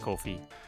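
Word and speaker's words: Ko-fi: In Japanese, the romanization is Ko Fi and it's pronounced Kofi. Okay, cool. Then that's the right way to say it.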